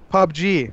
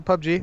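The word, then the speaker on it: PUBG: game that you're playing pop G oh that's popular is that how you say it is that you say by the way is a pub G yeah yeah I've only ever seen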